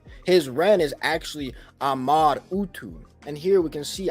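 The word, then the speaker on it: Amar-Utu: see it right here it was a originally pronounced Amar utu so his name was not originally Marduk this is not how you actually pronounce his name his Ren is actually Ahmad utu and here we can see ahmadu so that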